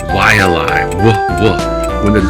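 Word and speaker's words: Waiʻalae: The W in the front of a word is wa, like Waianai, Waialai, wa.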